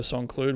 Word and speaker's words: Saint-Cloud: Cloud next weekend for the Grand Prix de Saint-Cloud, which is it's Group 1. I don't know why I pronounced St. Cloud 2 different ways just then. Yeah, I'll do it like a French person, Saint-Cloud.